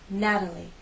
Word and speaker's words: Natalie: We have a true T in Matilda. Matilda, T, Matilda. We have the flap T in Natalie. Natalie.